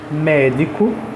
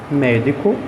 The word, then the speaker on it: médico: causando uma confusão veja médico médico a sílaba tônica é o me ela é uma palavra proparoxítono m o me que é a última penúltima e a antepenúltima antepenúltima tem assim já